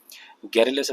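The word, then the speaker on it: garrulous: गैरुलस इसका pronunciation है और इसका मतलब होता है बहुत बातूनी, वेरी टॉकेटिव।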